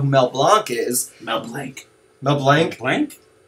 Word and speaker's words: Mel Blanc: Mel Blanc? Blanc? It's pronounced Mel Blanc.